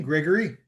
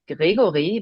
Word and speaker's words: Gregori: Gregory. Yeah, I think that's fine. Yeah. Would How do you pronounce it? Uh so in German I say Gregory, but in English it's Gregory.